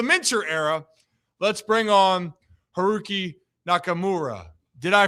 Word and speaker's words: Haruki Nakamura: Let's bring on Herooqi Nakamura. Did I pronounce that right, Heroo?